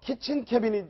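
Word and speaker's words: kitchen cabinet: 화제가 됐습니다 자 먼저 친 캐비닛 발음을 잘 하셔야 됩니다 치킨이 아니고요 부엌 내각이다 이런 얘기입니다 그리고 화이트하우스 버블 백악관의 거품 이런 얘기인데 자 먼저 키친 캐비닛 얘기부터 좀 하겠습니다 자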